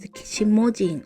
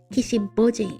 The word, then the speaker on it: Kishimojin: Now, the name Kishibin can be a little tricky. You might hear it pronounced Kishimojin or Kishibin both are used but as a place name and for the Trump stop Kish Bojin is the official reading.